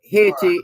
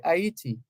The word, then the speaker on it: Haiti: the people soal Hai Haiti is the anglicized version Haiti is the anglicized version of the the the word the pronunciation but but the Haitians the Haitian say ITI right so the pronunciation